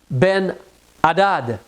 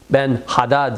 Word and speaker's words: Ben Hadad: y a entre autres une lignée de roi, Ben Hadad, H A D A D. Ben Hadad, si tu veux le prononcer comme cela.